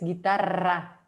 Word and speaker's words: guitarra: But in Spanish it's guitarra. Guitarra, okay. We pronounce both those with with a very strong accent, okay.